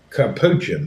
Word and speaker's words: capuchin: Capuchin, that's how you say it.